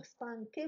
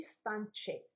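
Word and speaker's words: stanchi: جمع المؤنث، كذلك هنا زدنا له اكا باش نطقوه ستانكي ماشي ستانتشي، لان في الاصل كان ستانكو ماشي ستانشو.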